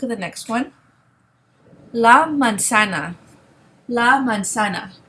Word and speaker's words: manzana: La manzana. La manzana. Remember, the Z in Spanish is pronounced like the English S. In Spain, the Z here would be pronounced like a TH.